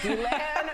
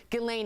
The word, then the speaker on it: Ghislaine: and so do i it's glenn maxwell right glenn is of course epstein's uh rumored gelane excuse me it's very hard to pronounce her name uh the epstein entourage